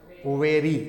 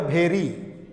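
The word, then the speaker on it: very: चीज, क्या लिखा है, वेरी। इसको क्या पढ़ेंगे, वेरी। आज जो गलत इसका उच्चारण करता होगा वो पढ़ेगा भेरी, तो भेरी नहीं वेरी।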